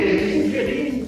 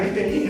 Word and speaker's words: Rivelini: como Adriana Pissardini, Luiz Rivelini, eu falei correto, é Rivelini, né? Assim é a pronúncia, que interpretaram personagens na série Thunderbolts.